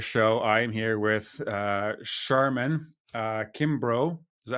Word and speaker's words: Sharmen Kimbrough: I am here with Sharmen Kimbrough.